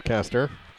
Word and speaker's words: Kester: Here's Kester. Spelled like Custer in our area, almost a travel.